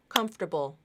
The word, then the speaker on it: comfortable: go really slowly so every time I clap I'm going to say the syllable com com com comfortable comfortable comfortable comfortable comforable those two syllables the the second two syllables had to happen in between the beat right so you have